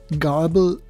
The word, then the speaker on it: grbl: cheat code instructions that follow the grbl or pronounced garble standard let me explain garble